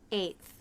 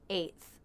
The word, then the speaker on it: eighth: Eighth. This one's pretty simple. The A diphthong and the unvoiced TH. Eighth.